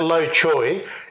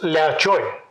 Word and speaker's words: Low Choy: My grandfather, if I try to pronounce it, it's Low Choy. Low Choy. 姓 Right? 刘 Lao. 姓 Lao. 刘 Right? All right. So, and Joy, you probably should have spelt it Joy rather than Choy.